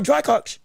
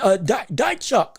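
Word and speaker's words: Dychko: Another good jab, right hand by Drykot. Or Dychok, excuse me. Dychok, that's how you say his name.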